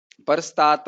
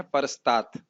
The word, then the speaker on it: परस्तात्: फिर से बोलते हैं, परस्तात हो जाता अगर इसमें हलंत नहीं लगता, लेकिन इसमें है परस्तात। समझ पा रहे हैं?